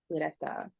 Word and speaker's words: Ureta: Ureta.